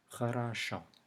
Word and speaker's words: хорошо: It has 3 O's, and each one of them is pronounced differently. So the last O is stressed, it is pronounced O. This O right immediately before the stress is pronounced shorter and fainter A. And then this O is pronounced A as the first letter in aloud. So we have A, O. Хорошо.